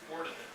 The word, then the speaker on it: Ordinariate: So for instance, if you had converts from Anglicanism that wanted to come and join your particular ordinariate. Everyone say it with me. Ordinariate. It gets mispronounced a lot.